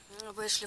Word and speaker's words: Бэшли: Бэшли. Фроди, кстати, ее называют Башли. Я думала, действительно Башли.